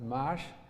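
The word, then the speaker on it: maš: And they had a word which they write as M-A-S, I guess that's pronounced mash, which was their word for interest.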